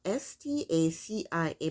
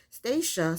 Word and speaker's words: Stacia: couple it's she pronoun her name is spelled s-t-a-c-i-a but i think she pronounced it stacia stystacia stacia we'll see so stacia and nate stacia is 37 years old and nate is 34.